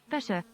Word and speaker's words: Peugeot: How do the French pronounce P-E-U-G? Peugeot.